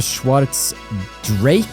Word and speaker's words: Schwarz Drake: They also did talk about the Schwarz Drake barrier is how they want to say it. So, we're going to go with the Drake for the pronunciation of that going forward.